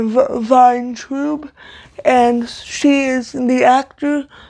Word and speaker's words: Vayntrub: I looked it up, and like it showed the phonetic pronunciation, and from what I could tell, it was pronounced Milana of Vin or Vayntrub, and she is the actor.